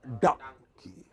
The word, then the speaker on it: donkey: It is not dong, it is dung. Open your mouth, like the hood of a crocodile. Donkey. Open it fully and close it quickly.